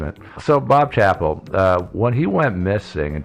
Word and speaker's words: Chappell: His name is spelled Chappelle, but it's pronounced Chappell, apparently.